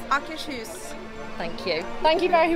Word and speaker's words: Akershus: How do you pronounce the name of this restaurant, please? Akershus.